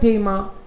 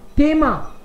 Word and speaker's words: Thema: Kind problem, kind problem, kind thema, no issue, kind problem, yes, kind problem, kind thema, thema, इसमें भी थ नहीं बोल रहा हूं मैं, kind thema, H is silent in German, इन द middle H silent रहता है जनरली.